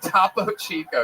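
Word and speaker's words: Topo Chico: Tapo Chico. Yes, that is exactly how that's pronounced. Don't ever change it.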